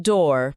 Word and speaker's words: door: É interessante notar o som desse O, ou. Não é exatamente como o nosso O ou U, dependendo da palavra em português.